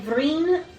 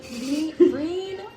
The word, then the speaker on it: Vreen: The king is known by Vreen von Averith. Can you spell that? Green.